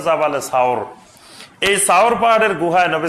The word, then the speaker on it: জাবালে সাওর: সাওর পাহাড়ের এখন যেটা জাবালে সুর বলে, জাবালে নূর আর জাবালে সুর, এই জাবালে সুর বা এটা শুদ্ধ উচ্চারণ হলো জাবালে সাওর।